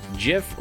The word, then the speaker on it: GIF: Jif like the peanut butter. Not GIF, huh?